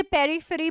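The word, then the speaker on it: periphery: इज पेफी पेफी पेफी आप इसे पेरिफेरी भी बोल सकते हैं कोई दिक्कत नहीं है अगर आप यह यहां पर ज्यादा प्रोनाउंस करना चाहते हैं तो व भी कर सकते हैं पेरी free alright so पेरी free is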